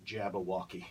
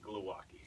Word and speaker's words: Glowacki: Because it's apparently pronounced Glowacki. It's actually pronounced Glowacki.